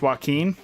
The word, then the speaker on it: Joaquin: Joaquin is pronounced Joaquin. Then Keen. What did I say? Actually, I don't. Doggins, I don't need. This is a very interesting, like joking. Oh, my fault. Yeah, Joaquin.